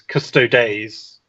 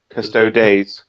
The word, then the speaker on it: Custodes: The internet has thoroughly decided that it is Custodes. Custodes. If you listen to any other YouTuber, that's how they say it.